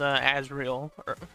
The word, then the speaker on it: Azrael: But I actually like Raiden versus Azrael.